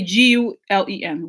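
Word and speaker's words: Gülen: Gulen just say G Len.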